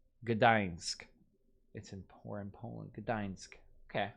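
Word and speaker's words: Gdańsk: Gdansk. Wow, that was so hard for me to say. Gdansk.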